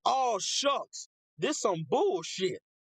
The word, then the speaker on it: Shough: I think that's how you say his name is Shuck. At first, I thought it was show, but it's Shuck. Like, all shucks.